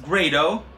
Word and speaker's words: Grado: called sure okay but not many people have heard of the name grade oh yes it's pronounced great oh I checked now Grado is a headphone manufacturer based in Brooklyn where